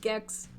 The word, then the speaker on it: Gex: because i'm looking at gex it rhymes with sex it's not the same